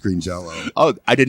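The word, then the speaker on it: Green Jellÿ: a o out and which means it's still pronounced Green Jello oh I did not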